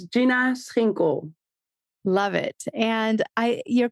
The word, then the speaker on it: Schinkel: honestly did a great job so it's Gina sinko love it and I your company names are